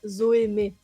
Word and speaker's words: Zoë: Zoey. Am I saying that correctly? Or is it with an exonteu or something? Do I need to French pronunciation? So, uh, Zoe.